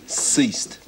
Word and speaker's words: ceased: Not bad, but it's a soft C. Ceased.